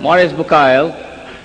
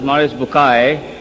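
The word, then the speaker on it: Maurice Bucaille: scholar of Quran Dr moris buk pronounced as moris buai am I right Dr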